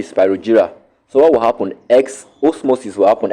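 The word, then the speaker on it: exosmosis: X osmosis will happen. X osmosis is spelled EX-OSMOSIS.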